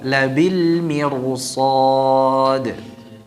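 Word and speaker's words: لَبِالْمِرْصَادِ: Nah, di sini ini juga masuk dalam keadaan ra yang dibaca dengan tafkhim. Ya. Jadi dibacanya dengan tebal. Coba labil mirsad.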